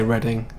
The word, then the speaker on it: Reading: Reading the place, yeah, that is how you say Reading.